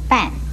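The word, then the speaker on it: 爿: 墙这个字又可以念半，国语注音是波按半四声半。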